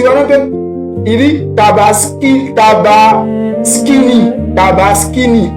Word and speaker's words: Tabaski: Voilà, luiême sa que c'est parce que là là les peup il dit tabas tabini tabaskini au lieu de tabaski il dit tabaskini et là au lieu